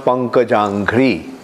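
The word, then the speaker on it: Pankajanghri: Pankaja. This is a combination of two words. Pankaja, Angri. So it becomes Pankajangri.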